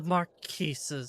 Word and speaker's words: Marquis: I do know that the S is silent. Marquis.